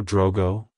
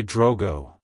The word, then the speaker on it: Drogo: Century it's pronounced as Drogo Drogo Drogo to pronounce it correctly emphasize the o sound and keep the G soft avoid pronouncing the O as o and the g as G like hello Drogo goodbye Drogo if you